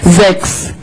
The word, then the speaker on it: sechs: Sechs, sechs. And remember that this in the beginning needs to be sechs. Because if you pronounce this unvoiced, you are saying sex in German, and you don't want to say this.